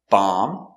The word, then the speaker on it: bomb: very good so remember whenever you see m b at the end of a word the b is always silent these are only some